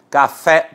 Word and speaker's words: café: forte na última sílaba café por exemplo última sílaba fé é a mais forte é uma oficina para